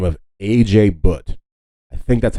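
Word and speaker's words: Ajay Bhatt: The main guy who created the USB is a man by the name of A.J. Butt. I think that's how you pronounce his name.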